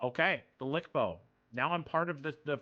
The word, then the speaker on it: LCBO: It's pronounced a Lickbo. Okay, the Lickbo.